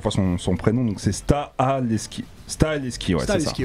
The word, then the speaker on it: Stahelski: prononce mal à chaque fois son prénom, donc c'est Stahelski.